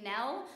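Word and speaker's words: Gnell: And she once owned a pet bunny named Nell, spelled with a silent G, that she used to carry around in her sweater when she went out to the bar every night.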